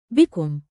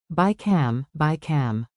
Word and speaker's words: بكم: بكم. Use it anywhere, shops, markets, ticket booths. Remember the mnemonic, be calm. بكم. Ask calmly, get better deals.